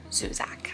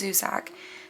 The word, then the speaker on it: Zusak: Zusak, I believe is how you pronounce that name.